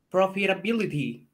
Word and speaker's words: profitability: Profitability. Awesome. No es ti. Al así final dice. No es ti. Escuche, escuche. Path to profitability. Ability. Es R-I. Y tú path. Lo pronunciabas con T-I.